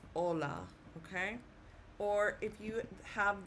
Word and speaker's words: hola: The letter H is silent.